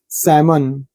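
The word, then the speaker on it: salmon: भी क्रीम लगाना मरहम सामन देखिए एम के पहले ला साइलेंट है एक प्रकार की बड़ी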